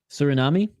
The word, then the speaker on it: Suriname: as biggie boy yeah uh Suriname is how you say it Suriname sir Nami surname cernamese